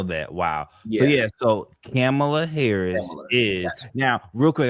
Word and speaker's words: Kamala: upset you don't say her name correctly it's camela okay really it'sa ha yeah yeah right right